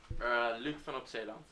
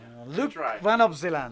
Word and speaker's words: Luke van op Zeeland: and the leader, and I'm going to get him to pronounce his own name so we can actually hear how it should sound and how I have been saying it wrong the whole time.